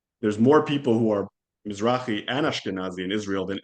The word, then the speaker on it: Mizrahi: Mizrahi. Mizrahi.